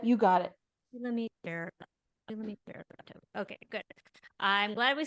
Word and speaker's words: Shulamit Ber Levtov: Shulamit Ber Levtov. Bear Bear. Lev Tov. So Shulamit Ber Levtov. Yep, you got it. Shulamit Ber. Shulamit Ber Levtov.